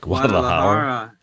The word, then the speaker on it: Guadalajara: Guadalajara.